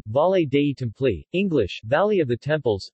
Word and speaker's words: Valle dei Templi: the volleyed a template Italian pronunciation valet Dayton flee English valley of the temples Sicilian Vati delete